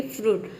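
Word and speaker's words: fruit: आई को क्या प्रोनाउंस कर रहे हैं, वो प्रोनाउंस कर रहे हैं। जैसे कि फ्रूट, फ्रूट का मतलब होता है फल, सुसाइड मतलब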